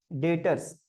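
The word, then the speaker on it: debtors: और जिसको हम उधार में बेचे हैं ना, उसको बोला जाता है डेटर, डेटर्स। ठीक है, बी साइलेंट रहता है, डेटर्स पढ़ा जाता है, डेटर्स।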